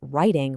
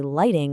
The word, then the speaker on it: writing: If you're talking about a creative hobby that helps you organize your thoughts, you mean writing with an R. If you accidentally say lighting with an L, people